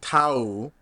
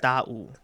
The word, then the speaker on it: Daou: and it's Tau, Yeah, or I might have had the tone wrong, it's but da'u. It's like Tau, da. It's like a Da'u.